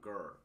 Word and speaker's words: girl: Hay una palabra que él dijo que la R, no pronunciarla como en español, que decimos gri, sino que pronunciarla girl.